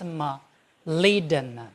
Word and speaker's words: molybdenum: The first, the second, the third syllable from the last. Okay? That's the rule. 1, 2, 3. From the last will be stressed. That's why it's molybdenum.